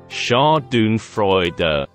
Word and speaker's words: Schadenfreude: does Chardon freuda mean Chardon freuder is pronounced as Shah Doon Freud which literally translates from